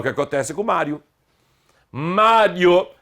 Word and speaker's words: Mário: Mário, sílaba tônica é a penúltima, tem que ter acento. Maria, sílaba tônica é o I, não tem acento.